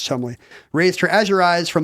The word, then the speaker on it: Cholmondeley: announcers had to say, Penelope Chumley, which is spelled Cholmondeley, it's a trap, you have to know it's Chumley, raised her azure eyes from the crabbed scenario.